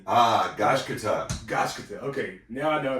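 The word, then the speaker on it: Gachiakuta: to say this, because I keep saying Gachikuta and Gachikuta, whatever, you know, and like, this can't be how to pronounce. They were like, Gachikuta. I'm like, oh man, yeah, that's difficult for Americans, but yeah.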